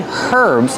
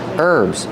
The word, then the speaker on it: herbs: These are called herbs remember with herbs the H is silent don't say herbs it's herbs these are herbs but